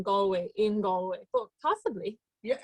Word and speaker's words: Galway: ireland and you wanna did i say that right galway you sure did okay did james galway